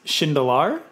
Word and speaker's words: Shindelar: So pronunciation, my last name is Shindelar, so close, but not quite.